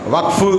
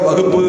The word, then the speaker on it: வக்ஃபு: அரசியல் களத்தில் இருக்கிறவங்க வக்ஃபு அப்படிங்கிறத வகுப்பு அப்படின்னு உச்சரிக்கக்கூடாது. வகுப்பு சட்டம், வகுப்பு திருத்த சட்டம், வக்ஃபு WAQF இங்கிலீஷில். அதை மலையாளத்துக்காரங்க வக்கஃப் அப்படின்றாங்க. நாம வக்ஃபுன்றோம். WAICFU அவ்வளோதான்.